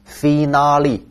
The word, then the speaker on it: finale: 下一个单词听力题当中考过 finale，听单词的读音是不是就长得不像英语、意大利语哈？